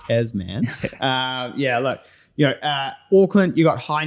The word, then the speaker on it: Tasman: Right, you can't say Tasman, but you can say topography. It's actually pronounced Tasman.